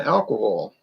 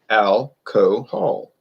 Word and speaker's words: alcohol: talk we're going to practice saying alcohol al co hall it's not an accent situation now some people say you have funny accent that's that's different i'm talking about pronunciation alcohol i hear people say